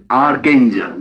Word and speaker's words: archangel: an archangel you see Archangel no arang Archangel yes I must correct my pronunciation Archangel it's like an archangel this